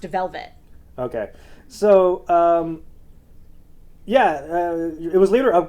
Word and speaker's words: Velvette: tte at the end but it's still pronounced velvet okay so um yeah